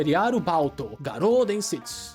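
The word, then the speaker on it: リアルバウト餓狼伝説: E a pronúncia japonesa, né? Que é Riaro Balto Garodens, que é o embate real, a lenda dos lobos famintos.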